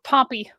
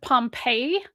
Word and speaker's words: Pompey: the Great, decades before Pompey's capture of Judea. Oh, Pompey. Sorry, my brain. I heard Pompeii, as in the city, and then I had to immediately go, no, Pompey, the guy.